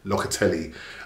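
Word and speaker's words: Locatelli: said linked with um la catelli or la catelli as i've been told to pronounce it right locately um you know we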